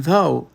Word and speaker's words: though: And though, ele simplesmente não existe para os seus ouvidos.